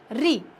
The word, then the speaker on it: ऋ: री एक स्वर है जिसका रा से कोई लेना देना नहीं है। री कैसे बोलेंगे? री, थोड़ा जल्दी, री, रा का उच्चारण करना है, ठीक है।